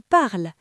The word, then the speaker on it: parlent: pluriel, il ou elle, la terminaison ENT est totalement invisible pour l'oreille. Elle ne se prononce jamais. Prenons le verbe parler. Au singulier, il parle, parle. Au pluriel, il parle, P-A-R-L-E-N-T, parle.